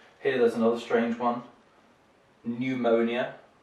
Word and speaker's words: pneumonia: Here there's another strange one, pneumonia, so the P is silent, like in a similar word, pneumatic, for example, also has a P in there.